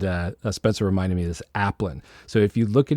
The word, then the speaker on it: Aplin: to us uh starting the recording uh I pronounced it wrong and I said Al alpen and uh Spencer reminded me this appan so if you look at his name um